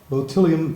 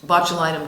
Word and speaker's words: botulinum: there any risks involved with bellium toxins or however that's pronounced botulinum toxins yeah uh I think